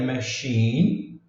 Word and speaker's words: machine: Ó, machine, o i, aqui é um exemplo de que o i às vezes pode ser pronunciado como i mesmo. Nós vimos o exemplo do dois es que é som de i, o e e o a que são de i, e agora um i mesmo com som de i. Machine, machine, i, shine. E o i aqui, nesse